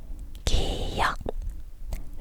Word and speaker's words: 기역: Hãy lặp lại lần nữa bắt đầu từ phụ âm này ㄱ[g] ㄱ: 기역 tiếp theo, ㄴ âm [n] và tên của